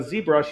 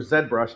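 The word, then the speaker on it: ZBrush: then input it into a z brush or Zed brush how they say it here and then sculpt the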